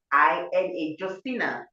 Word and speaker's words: Josina: Our young people must go and, her name is spelled Josina. Josina, Josina, and her surname is Machel, Machel.